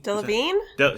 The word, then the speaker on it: Delevingne: Delevingne? Sure. That's how you pronounce it.